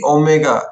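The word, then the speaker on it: ω: कहंती गोटे ए जो सिंबल टा कोन कहंती ओमेगा ताकू पार्टी रे ओमेगा कहबो एडे खाता रे ओमेगा लिखिबोनी एटा कोन उच्चारण प्रोनाउंसिएशन पे लिखिली प्रोनाउंसिएशन माने तो पार्टी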